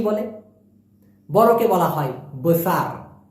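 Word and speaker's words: besar: বলে বড়কে বলা হয় বুসার কি বলা হয় অনেকে বলে বুসার মূলত উচ্চারণটা হবে বসার বসার বুসার না হ্যাঁ সঠিক উচ্চারণ হবে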